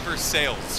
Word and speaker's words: Versailles: you you lived in first that actual verse versailles it's pronounced for sales for no reason oh my gosh i love